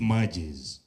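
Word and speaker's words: magis: of Loyola left us we pronounce it matches and matches means the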